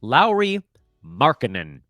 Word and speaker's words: Lauri Markkanen: I keep jumping over a syllable in his name because I'm in such a rush. Lauri Markkanen.